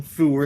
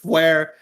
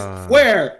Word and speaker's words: Fware: He called him Foor instead of Fware. And I'm like, it's not Foor, it's Fware. You know what?